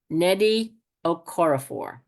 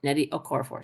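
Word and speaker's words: Nnedi Okorafor: Grace Lany Netty okoror Netty okoror it's n n d i and her last name is spelled o k o r a f o r Netty okoror thank you and I'm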